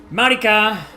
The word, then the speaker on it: Marica: So Marica uh with the right pronunciation.